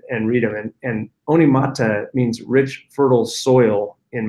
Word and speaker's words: Onemata: read them in and Oni mata means rich fertile soil in Maori and you know so we would have everybody read it to them and everybody mispronounced it you know one mata one Mita all kinds of you